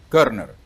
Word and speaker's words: Körner: Así se pronuncia, ¿verdad? Eso. Körner.